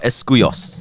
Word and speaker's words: Escuyos: And we're joined by a very special guest, Olivia Escuyos.